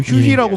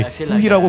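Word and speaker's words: Huhi: 김준 선수 그리고 이제 후희 선수도 휴이라고 불렀다가 이제 본인이 후기라고 불러 주세요라고 이제 정정하게 부탁을 했었던 사례도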